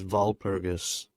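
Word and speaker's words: Walpurgis: instead of War pegs they wanted to call it wal perus or probably the German pronunciation is V perus but uh Val perus yeah so it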